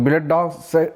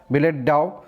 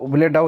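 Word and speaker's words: billet-doux: তো বিলেট ডগস উচ্চারণটা হবে এটা বিলেট ডাও। তো বিলেট ডাউ উচ্চারণ, তো যদিও এটার আনসার কী হবে দেখে নাও, লাভ লেটার্স।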